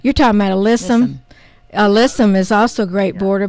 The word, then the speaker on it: alyssum: the west of white uh how do you pronounce that Asylum but Aslam the little white flowering that that uh oh listen listen you're talking about a listen alyssum is also a great border but it also